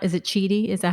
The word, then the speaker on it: Chidi: And guys, the founder of Loom, Erica, please pronounce, is it Chidi? Is that how you say her last name? Mm-hmm. Chidi, yes.